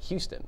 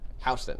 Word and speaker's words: Houston: at the sign, and she's like Houston. I'm like, no, Houston. That's the way you pronounce it.